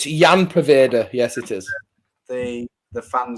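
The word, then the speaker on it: Ian Poveda: Oh, getting picked up by Daniel Robinson, the pronunciation king. It's Jan Paveda.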